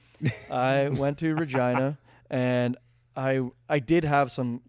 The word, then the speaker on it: Regina: The city that rhymes with fun. I went to Regina and I did have